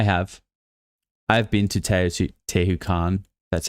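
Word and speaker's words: Teotihuacan: I literally was I have I have been to Teu Te Tahu Khan.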